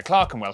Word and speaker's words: Clerkenwell: ER is pronounced R. Berkshire, Clerkenwell, Hertfordshire.